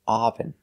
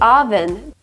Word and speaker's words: oven: see some more pronunciation this is not correct we cannot say often I can't turn on the oven we use the short sound like cup and up we say uh uh relaxed sound uh oven oven oven